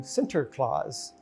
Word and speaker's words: Sinterklaas: the Dutch living together, the English pronounced it a little different, and it morphed from Sinterklaas to Santa Claus as we know today.